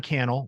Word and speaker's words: Cannell: to your community um Sean canel rhymes with YouTube channel that's where I'm at